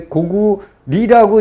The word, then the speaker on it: 고구려: 고구려. 근데 고구리라고 읽어야 된다.